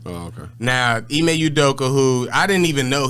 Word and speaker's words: Ime Udoka: So it's Ime Udoka? Yeah, Ime Udoka. Oh, okay. Now, Ime Udoka, who I didn't even know he was Nia